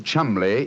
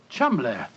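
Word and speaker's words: Cholmondeley: Being an American, he had no reason to know that the name Chumley is in no way pronounced the way it is spelt. Oh, Joe, I never thought of that. Chumley.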